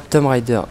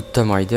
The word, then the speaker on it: Tomb Raider: tout de suite, moi je prononce pas Tomb Raider. Moi j'ai toujours prononcé, c'est peut-être une erreur, mais du coup maintenant je suis habitué, depuis tout petit je fais ça, d'appeler ça Tomb Raider, alors que c'est pas du tout Tom.